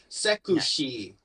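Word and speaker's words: セクシー: you pronounce it Japanesey. So yeah, Yeah. sekushi or sekusui.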